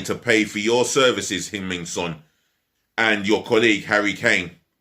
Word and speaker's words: Heung-min Son: that's going to want to go than Heung-min Son. Heung-min Son's possibly feeling the same way inside. So time will tell. Oh, speaking of which, South Korea forward Heung-min Son.